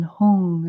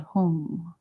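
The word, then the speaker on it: hung: is just a h and then home is h-u-n-g and we coordinate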